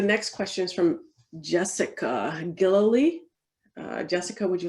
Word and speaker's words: Gillooly: So the next question is from Jessica Gillily. Jessica, would you like to ask your question? And apologies if I've just butchered your last name. Sure, you were very close. It's Galuli.